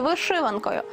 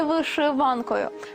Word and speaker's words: вишиванка: сорочку задекоровану хрещатиме візерунками називаємо і вишиванкою і вишиванкою це слово має подвійний наголос тому як іменувати один